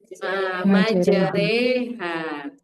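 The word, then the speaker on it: مجريها: Majereha. Nah ini umahatnya alif dan fathah sebelumnya. Ada nggak yang lain? Hafaz tidak ada. Jadi diingatkan di lafaz majeriha bacanya kalau alif yang tashil ajami. Selebihnya dibaca normal.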